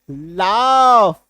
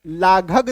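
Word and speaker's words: laugh: लेकिन अगर जीएच शब्द के लास्ट में आता है तो उसका उच्चारण घ नहीं होगा।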